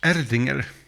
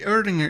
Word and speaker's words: Erdinger: Erdinger is probably the German pronunciation.